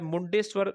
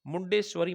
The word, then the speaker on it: मुंडेश्वरी: दिखाई दे रहा है मुंडेश्वर मंदिर यह बिहार में है और यह भारत में बनने वाला पहला म मंदिर था मुंडेश्वरी मंदिर ठीक है सही उच्चारण इसका मुंडेश्वरी मंदिर बिहार में पूछा जा